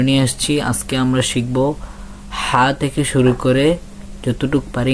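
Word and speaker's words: ح: এর দিকে যদি যাই হা এটা অনেক ডাবানো একটা হরফ আপনি যে আপনার যে গলার কণ্ঠনালী কণ্ঠনালী এদিকে একটু হালকা চাপ দিবেন মানে ভিতর থেকে হাটু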